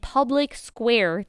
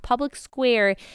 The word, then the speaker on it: Public SQ: And Public Square, the app, Public Square, is allowing you to do just that. So it's pronounced Public SQ. It's short for Public Square, and it's an app